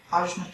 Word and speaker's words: Ajna: Because what's really sweet is if you hit yourself right at the third eye, Ajna Chakra or Anya Chakra, depending on how you pronounce it.